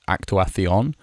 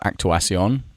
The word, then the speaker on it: actuación: I don't particularly like the not all of Spain does this, but most of Spain, the C is pronounced th, like actuación. I prefer actuación.